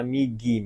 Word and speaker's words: 右: Nomor 2 ya, bacanya migi minasang.